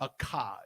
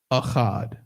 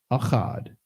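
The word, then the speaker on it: אחד: it technically is not it is not a Cod it's Ahad akhad right that's how you say one in Hebrew Ahad number two the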